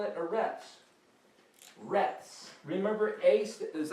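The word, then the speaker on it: ארץ: Aretz is earth. Aleph, Resh, Zadi. Aretz. Now, we spell it, again, going from right to left, E-A-R, and then this is T-Z.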